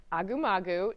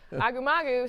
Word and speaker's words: Agumagu: There's an email from Agumagu. Don't ask me to spell it, but that's how you say it, Chris. Agumagu saying, here is my resume.